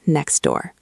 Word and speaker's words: next door: Think about the phrase next door. Slowly, it is next door. You have to finish the T and next, then start the D and door. Next door. It is choppy.